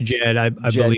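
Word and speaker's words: Djed: familiar with the Egyptian how do you say that word uh Jed it's just Jed killer yeah yeah what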